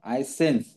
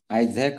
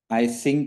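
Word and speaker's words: Eysenck: तर तुम्हाला ते मिळतं आयझॅक असं नाहीये ते एक्झॅक्टली स्पेलिंग सांगतो तुम्हाला इ वाय एस इ एन सी के एस इ वाय एस इ एन सी के एस आयसिंग किंवा आयसेन्स असं आयझॅक असं एक्झॅक्ट नाहीये ते पहिली नॉर्मल मनची व्याख्या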